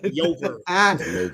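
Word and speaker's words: Llover: But it's pronounced the double L. It's a Yama, like a Yover.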